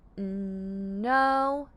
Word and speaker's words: know: beginning we'll see the sound n so the K remains silent o w says o to make the word no no for example I